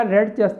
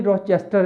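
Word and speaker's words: Rochester: मैंने बताया रेडचेस्टर नहीं रॉचेस्टर है, असल में रॉचेस्टर है, ये इलाका है।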